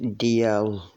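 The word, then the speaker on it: Dalzell: And on Sunday, went to visit this place, Daliel House. It's pronounced DL, like D and L, not L as in L.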